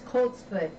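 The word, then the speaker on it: coltsfoot: good thing to know that's coats foot and it's co LT s foot okay let's do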